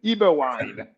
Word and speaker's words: Eberwein: backwards is Dr eberwein welcome back thank you so much Stephen always a pleasure and I love the way you say my name that's a true European eBay wine I read recently that